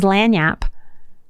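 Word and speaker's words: lagniappe: word I want to share with you is lanap the way you spell it is l a g n i a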